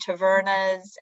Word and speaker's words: tavernas: And there is a lot of talk about Greek food and tavernas. And did I pronounce that correctly?